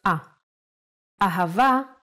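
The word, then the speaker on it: אהבה: in both ways when hey appears in the end of the word it will always sound as ah Ava is love in Hebrew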